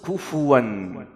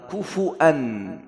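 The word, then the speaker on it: كفوا: lain Hafsh an Ashim, Hafsh Ashim kufuwan ada qira'ah yang lain, kufu'an, pakai hamzah tapi di Indonesia dan di Arab Arab Saudi, Yaman Bacanya Hafs, Imam Hafs. Imam Hafs kufuwan.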